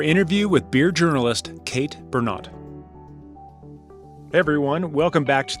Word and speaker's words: Bernot: And our guest today, you know her, Kate Bernot. Did I pronounce that correctly? You got it. I always want to. I always think like a French pronunciation when I see your name.